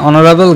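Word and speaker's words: honorable: Tahsin was এান honest you আর এয়ার of this proper party Raju is এন অনারেবল guest অনারেবল এইচ এর উচ্চারণ হয়নি অর্থাৎ hour honest air এবং অনারেবলের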